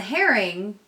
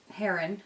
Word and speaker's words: heron: learning from those and the herring heron sorry I say it wrong I've said it wrong since I was a kid to the Heron is